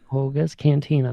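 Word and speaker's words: Oga's Cantina: Ogas Cantina.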